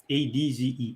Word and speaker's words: adze: ADZE adze.